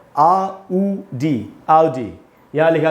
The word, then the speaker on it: Audi: इसको दोस्तों हम बोलते हैं ऑडी। ऑडी एकदम ही गलत उच्चारण है, सुनने में खराब लगता है। इसका करेक्ट प्रोनाउंसिएशन क्या है फिर, वो है आउडी, आउडी।